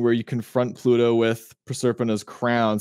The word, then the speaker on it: Proserpina: Proserpina is, I think, the Roman pronunciation. It's Proserpina.